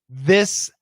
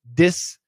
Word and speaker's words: this: show you an example so you said this that the then and if i do a d it'd be dis da da den so completely different remember